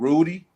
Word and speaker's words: Rudi: So I decided to go ahead, Rudi. That's how to pronounce his name.